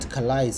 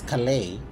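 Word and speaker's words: Calais: day I learned that kalis is not kalaised it's kalei so although I'm giving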